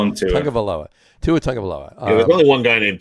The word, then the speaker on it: Tagovailoa: Tagovailoa. Where's the N? That's my question. It's a silent N. It's a silent N. T-U-G. There's a silent N. You may just call him Tua. Tua Tagovailoa.